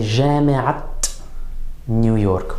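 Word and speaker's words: جامعة نيويورك: marbuta in an idafa, we're going to pronounce that ta marbuta as a ta, as a T sound on all the words except the final word of the idafa.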